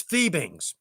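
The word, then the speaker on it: Fiebing's: It's Phoebings. Technically, from the horse's mouth, it's Phoebings. It's pronounced Phoebings. I've just said Fivings for so long, and I don't think they care.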